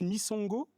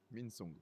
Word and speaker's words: Minsongo: Misongo. Minsongo. Misongo. Minsongo. Minsongo. Oui, c'est ça. Il me manque le N.